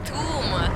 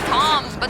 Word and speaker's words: tomb: Tomb. Not Tom, but Tomb. You're right, T-U-M. So I thought you should pronounce it as Tom.